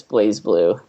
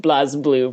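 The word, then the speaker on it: BlazBlue: think I think the I think the Ingress pronunciation which is what you get for a lot of the a lot of the the voice acting in the game for like for like names of characters and whatnot is I think it's I think it's pronounced Blas Blue by the the English commentator but I think it's supposed to be Blaze flu either way they should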